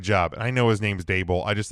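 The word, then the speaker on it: Daboll: I know his name is Brian Dable, but I like to call him DeBull.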